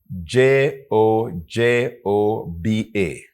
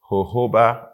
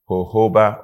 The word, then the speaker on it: jojoba: but it is pronounced hoba oil not jojoba oil it's pronounced hoba oil the J is pronounced as H hoba oil now Native